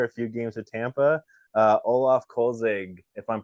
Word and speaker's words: Olaf Kölzig: his whole career a few games of Tampa Olaf kolzig if I'm pronouncing it correctly welcome to the show yeah